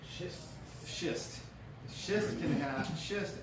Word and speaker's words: schist: does not do that now shist you have to make sure you say that right shist shist shist can have